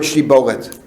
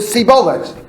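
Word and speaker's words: שיבולת: So they said, say the word shibolet. Vayomru sibolet. But they couldn't pronounce the shin.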